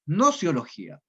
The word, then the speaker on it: gnoseología: La G no se pronuncia, es nociología, que viene del griego gnosis, que significa conocimiento.